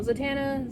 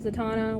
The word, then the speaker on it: Zatanna: her own character now zatanna zatana whichever way you want to pronounce it even the creators have announced they don't care they pronounce it zatanna but they don't care if anyone else pronounced it differently but i love her